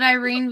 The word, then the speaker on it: Irene: There's Ink also Cowboy voted Irene because it rhymes with Queen.